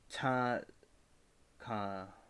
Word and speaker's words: Takarazuka: And thanks for pronunciation. And that's how it's pronounced. Because we have our own way of saying things, but that's the right way to say it. Okay. Takarazuka.